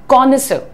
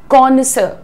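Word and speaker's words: connoisseur: word से बुलाते हैं, प्रोनाउंसिएशन ध्यान से देखो, कॉनिसर, कॉनिसर, ही इज अ कॉनिसर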